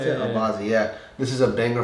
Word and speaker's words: Albazi: Albazi, is that how you pronounce it? Albazi, yeah.